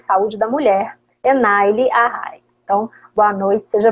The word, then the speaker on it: Enaile: Me ajuda a pronunciar seu Enaile. nome. Enaile.